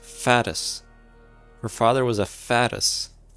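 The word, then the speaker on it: Fatui: Her father was a fatuse, and her mother was a very famous ballerina. See, it's pronounced fattis.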